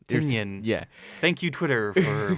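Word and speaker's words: Tynion: to say it tan we say tenian a lot here but it's t ten tenan yeah thank you Twitter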